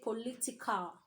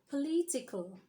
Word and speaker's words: political: local local all right we shouldn't say política you should say political political you shouldn't say